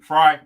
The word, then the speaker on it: Frey: this uh mayor jacob frey is that how you pronounce it frey uh fry okay uh has suspended no